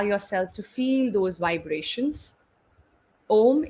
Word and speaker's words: Om: Om is 3 syllables coming together.